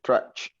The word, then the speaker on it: trash: Can you pick up the trash? Trash. Trash. Can you pick up? The trash. The Pronounce it? trash. No, usted me pronuncia la Trash. CH. Tiene que ser SH. Trash.